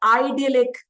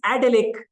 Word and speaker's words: idyllic: So now it is not idyllic, it is idyllic.